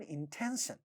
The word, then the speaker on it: intention: In the next word, intention, you have a word with 3 syllables. This syllable is stressed and a voiceless stop is at the initial position of this syllable, therefore it is getting aspirated. So the way it sounds is intention, intention.